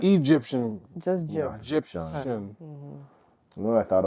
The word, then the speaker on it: Gyptian: She asked me her name, and I told her it's Egyptian.